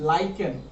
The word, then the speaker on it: lichen: It is a natural dye extracted from lichen. The spelling is L-I-C-H-E-N, but we spell it as lichen.